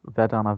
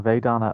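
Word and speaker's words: vedanā: uh i think vedana it's pronounced vedana vedana of our body sensations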